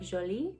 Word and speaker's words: Jolie: i really like like if you're pronouncing it in the french way like jolie i think that's really